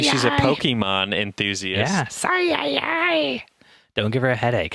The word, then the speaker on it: Psy: Anonymous Sigh. Anonymous is spelled normally, and then it's PSY at the end, so Sigh.